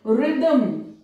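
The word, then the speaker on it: rhythm: रिदम, रिदम में भी H silent है, उसको रिदम, रिदम नहीं बोला जाता है।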